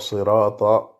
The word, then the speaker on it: صراط: Le ra, il est prononcé avec la langue. On roule le R, mais il y a uniquement la langue et pas la gorge. Il n'y a pas un genre de W. Sirata, non.